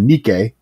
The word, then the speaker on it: Nike: history of the word Nikkei it's spelled like Nike and i-k-e it's the history of